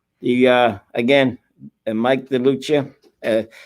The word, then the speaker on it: DeLucia: and mike delucia uh the in italian for those of you that are italian and say tony nacarado is mispronouncing it you're right it's mike de lucia but we pronounce it here the lucci the same thing with